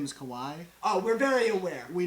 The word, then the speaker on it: Kawhi: just to clarify we know his name is Kawai oh we're very aware we know how to pronounce it but we we we just say it we just say kawi because it's more fun to say you know